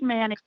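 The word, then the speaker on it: Manteo: Yes, you did say it correctly. It is pronounced Manio. We do not pronounce the T because in the South, we don't have time for all those letters when we talk.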